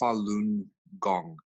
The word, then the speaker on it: Falun Gong: more healthy and uh stress-free body so when falun gong was introduced into the general public of china and it's pronounced falun gong it was it spread like wildfire paul i